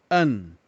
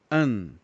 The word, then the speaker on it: un: com o número um a pronúncia é an Vamos repetir an conforme Nós aprendemos na aula anterior para que o som do U saia perfeito no francês nós temos que subir a língua quase tocando o céu da boca para ficar o mais original possível então fica an que